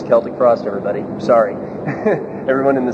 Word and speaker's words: Celtic Frost: But you take more risk as well, but then again, with Celtic Frost, we knew that there was genuine interest in